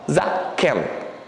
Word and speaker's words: Zaken: Então é Zá, Que. E daí nós temos o Nun final. Zaken.